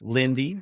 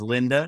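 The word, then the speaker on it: Linde: Spent some time working with Lindy, and he says Linda, which is the correct pronunciation because he points out it's a German company and originally, and so we should know that.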